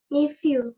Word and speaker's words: nephew: Jangan lupa, PH bunyinya F. Nephew. Yes, nephew. E-nya tetap bunyinya E yang di depan. Ini bunyinya U, nephew.